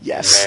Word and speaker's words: Ys: The thing about Ys is that, Othan Felgana specifically, and the Ys series as a whole, this is, by the way, YS. Ys. Yes. That's how it's pronounced.